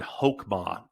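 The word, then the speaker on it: חכמה: Now, wisdom is the word hokmah, and that is spelled, I got to write it down right here, KhokHman, hokmah.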